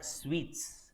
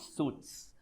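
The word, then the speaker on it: suites: how do you pronounce this how do you pronounce this it's called sweets not suits suit is your coat suit sweet is a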